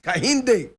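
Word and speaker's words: Kehinde: James Kahinde Ajayi. And Kahinde is spelled K-E-H-I-N-D-E.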